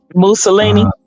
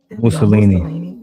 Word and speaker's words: Mussolini: Mona Lisi or what is it? Muna. How you say it? Mussolini. Mussolini.